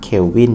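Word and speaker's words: Kelvin: เว้น ม.ค สี เขียว วิน จะ อ่าน ว่า calvin เฉย ๆ ที่ นี้ เนี่ย ตอน เนี้ย เรา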